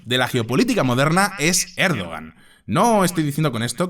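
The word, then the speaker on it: Erdoğan: recep tayb erdogan Sí en Turco se dice erdogan pero así en español para que nos entendamos vamos a pronunciarlo erdogan veréis a mí me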